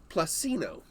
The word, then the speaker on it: Plussino: from a company called placino it kind of rhymes with rafino right and it's almost identical